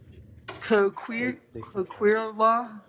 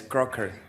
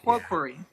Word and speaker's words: Coquery: Coquirla? Did I say it right? I know I did. It's Crocker. Yeah, it's French. Coquery.